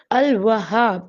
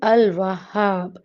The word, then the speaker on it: Al-Wahhab: There must be double H in it. So we have to pronounce it Al-Wahhab.